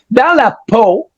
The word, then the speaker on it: Dans la peau: Dans la peau, that's how you pronounce it.